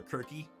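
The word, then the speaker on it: Kirke: might just go with like the greek pronunciation color quirky and spell it like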